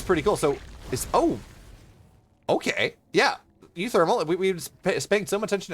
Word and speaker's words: uThermal: Yeah, I think the correct pronunciation is uThermal.